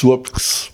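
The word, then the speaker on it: Słupsk: It used to be Stolp. Yeah. Now it's Słopks.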